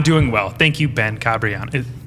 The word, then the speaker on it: Cabreana: well thank you ben cabriano how do you say how do you say your name how are you correct uh is kabriana cabriana yeah okay i've heard cabrianna